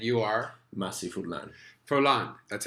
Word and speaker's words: Furlan: Jason Stewart and you are messy food lon forlán that's how you say it you said it